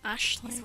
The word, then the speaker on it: Aisling: well keep them coming the pronunciation for that name that i know of is ashley will give you something to do tonight aisling i should be finished